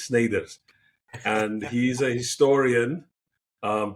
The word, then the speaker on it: Snyders: Um Sn some people are Sniders, but I think he's Sners.